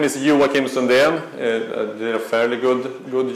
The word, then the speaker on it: Joakim Sundén: other things as well uh my name is you will kim sondheim did a fairly good good job of pronouncing it as i mentioned i'm from sweden